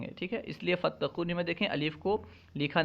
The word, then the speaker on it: فتقونی: کر لکھا گیا ہے، کیونکہ فا کو تا کے ساتھ ملا کر پڑھا جاتا ہے، تلفظ میں فا کو تا کے ساتھ ملا کر ادا کیا جاتا ہے، فتقونی۔ بریکٹ میں